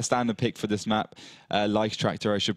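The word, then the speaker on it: Leichttraktor: Lichtractor, I should pronounce it.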